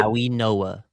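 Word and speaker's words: Mauigoa: Uh Fano and then gonna figure out how to pronounce his name. What is it? Maui Noah. Maui Noah. Okay, there's if there's an N in there that just Okay, I I believe you. But um yeah, not how I would pronounce it, but yeah, Francis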